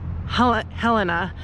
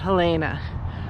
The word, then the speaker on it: Helena: um the Border officer very aggressively schooled me that it's Helena and not Helena so uh I am I apologize I was saying it wrong I'm gonna try to